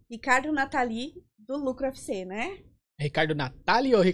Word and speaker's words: Natali: É Natali. Natali. Natali, é a segunda sílaba que é a mais alta, Natali.